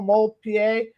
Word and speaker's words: DeMoulpied: Just make sure you put the D in there, since you don't hear it when you pronounce it.